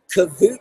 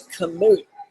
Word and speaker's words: Kamut: Kavut powder, he writes? No, it's Kamut. K-A-M-U-T powder.